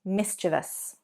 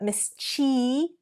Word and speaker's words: mischievous: What many people do, and this includes me, is say mischievous, mischievous. So actually we're adding an extra syllable there and we're elongating that E sound. Not mischievous, but mischievious.